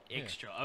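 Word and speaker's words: Ixchel: Ixchil. Okay, that is how you say it. We were debating before what the pronunciation.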